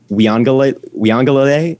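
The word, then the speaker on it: Uiagalelei: like historical also my heisman pick is dj we angle we on galilee that's how you pronounce his name the clemson guy i think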